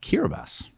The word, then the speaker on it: Kiribati: Starlink is now in Kiribati. No, Kiribati. no, it's pronounced Kiribati. That's fun. The T is pronounced with an S?